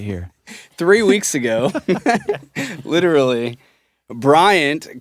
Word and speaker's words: Bryant: I like that you specifically pronounced the T at the end of Bryant. Ryan Brian Bryant.